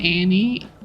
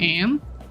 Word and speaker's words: Anne: You sound like you said Annie instead of Anne. Annie Hathaway. Oh, I do say Annie, but that's an accident. I do know it's Anne, but I pronounce it Annie.